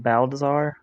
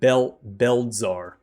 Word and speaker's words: Belzar: You said Baldassar? Did I say his name? Belzar. Belzar. Can you tell me the fighting style or how he attacked?